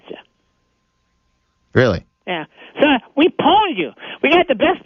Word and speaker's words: pwned: It's like, well, first of all, they I don't know if you're familiar with the term pwned.